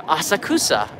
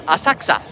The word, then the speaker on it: Asakusa: Personally, though, I prefer Asakusa or Asakusa, depending on if you're a pronunciation snob. Asakusa is the way that you would say it for foreign tourists on the train.